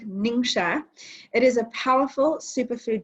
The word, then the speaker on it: Ningxia: Okay, so Ningxia Red, it's pronounced Ningxia.